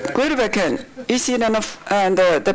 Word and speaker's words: Grytviken: Now this is Grytviken. I never can pronounce it correct. Grytviken. That's right. Grytviken.